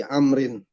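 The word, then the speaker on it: عمرو: Tujuannya untuk membedakan antara Amr dan Umar. Coba kalau misalkan nggak ada wawu, maka orang-orang yang nggak paham, misalkan ada orang namanya dia bukan Umar tapi Amr ya. Jadi kan sama-sama ain juga. Maka cara membedakannya untuk yang Amr dikasih wawu.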